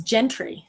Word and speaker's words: Gentry: say it out loud you keep saying his name wrong it's Gentry I don't care I